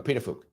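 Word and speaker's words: Pituffik: it is there we go there we go petuk so yeah I knew it was something like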